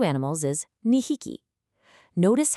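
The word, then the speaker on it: 二匹: 2 people is futari, but 2 animals is nihiki. Notice how drastically the numbers completely change the pronunciation depending entirely on what it is you're counting.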